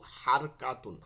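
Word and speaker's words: حركة: আকারে পড়া জায়েজ নাই আমরা হরকত হরকত বলি না কিন্তু উচ্চারণটা কিন্তু হারকাতুন হারাকাতুন ঠিক আছে এটা কিন্তু হারকাতুন এখানে কাফ কিন্তু কফ না কিন্তু আমরা বলি হরকত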